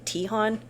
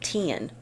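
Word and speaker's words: Teahan: I was saying Tihan. It's Tian. They both have good rundowns on different techniques, like communication techniques and things like that. And Patrick Tian, I've seen him do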